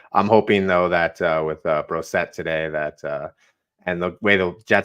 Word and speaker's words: Brossoit: Laurent Brossoit? Brosset. Brosset. Yeah. See, that's easy to remember.